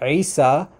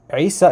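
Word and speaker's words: عيسى: So what he was saying was that that the name Isa in Arabic starts with the letter Ain, which is this guttural sound from like the throat.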